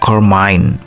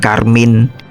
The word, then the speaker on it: Carmine: sama Ariani Oh ya Kalau tulisannya begini bacanya itu carmine bukan Karmin Virgo disutra dari Odi